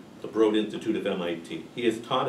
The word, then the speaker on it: Broad Institute: Most recently doing genetic research at the Broad, rhymes with Broad, the Broad Institute of MIT.